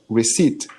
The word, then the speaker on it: receipt: is the pronunciation right receipt receipt receipt yeah that's right I was like it's received I know I know the P is like a it's tricky it's silent um receipt I hope